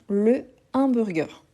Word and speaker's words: hamburger: voilà mué ou aspiré et c'est un h aspiré le hamburger ensuite on a hebdomadeur